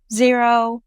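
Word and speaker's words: Xero: So, some tools you can use are QuickBooks, Zero, which is spelled X E O, wave, Freshbooks.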